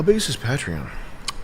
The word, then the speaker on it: Patreon: Patreon. It should be Patreon.